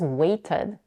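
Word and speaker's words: waited: phoneme or for example the past form of the verb wait is weighted by adding the suffix ed at the end from a one-syllable word we end up with a two-syllable one way Ted but let's take the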